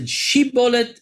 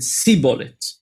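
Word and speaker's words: שיבולת: plant called shibolet that the two tribes pronounced it in a different way one of them said shibolet and one of them said seet so now you would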